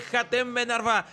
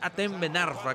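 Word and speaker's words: Hatem Ben Arfa: tiro de esquina de Jaten Benarfa. Y bueno, me habían dicho que es Aen Benarfa, que no se pronuncia la a la J, un el youtubero que vive en Francia.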